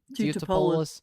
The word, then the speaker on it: Teutopolis: Teutopolis? Is that how you say it? Yeah. Teutopolis?